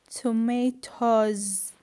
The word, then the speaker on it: tomatoes: And the next one is tomato, tomatoes, right? Also tomatoes, tomatoes. Okay, student, tomatoes. I pronounce the S, z.